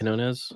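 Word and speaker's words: Quiñones: I don't know if I know how to pronounce his name. Is it Peter Quinones? I think Quinones? Quinones.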